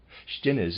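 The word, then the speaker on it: Stinnes: the german labor force readers aside shin is pronouncing it that way is spelled s t i n n e s and the readers aside of course not that's impossible shtines is an industrialist who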